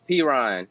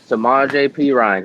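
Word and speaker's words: Samaje Perine: Mixon didn't play uh p-run I know I'm getting hit saying his name wrong no no it's samaj apron samaje P Ryan he got in and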